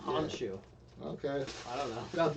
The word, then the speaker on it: Khonshu: That's Khonshu. The K is silent. Yeah. Honshu.